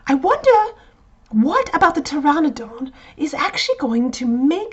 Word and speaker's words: Pteranodon: it to you that a Pteranodon and pterosaurs both have a pea in the front of their name is it's a silent P you don't hear it but it is there - all very fascinating